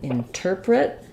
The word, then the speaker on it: interpret: misspelled um interpret um is stressed on the tur syllable so we have a reduced in and then we have our stressed tur and then print we have an i vowel or reduce sound at the end so it sounds like in interpret uh then when we